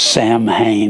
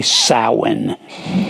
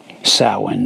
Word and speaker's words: Samhain: rock group called themselves sam hayne it's actually samhain it's pronounced s o w e n samhain that's where it's pronounced